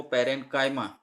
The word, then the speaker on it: parenchyma: काफ़ी बार ऐसा होता है कि इसका जो प्रोनाउंसिएशन है लोग चीमा चीमा करते हैं, लेकिन जो परफेक्ट प्रोनाउंसिएशन है वो पेरेंकाइमा, कभी कभी चीमा भी सुनने को मिलता है।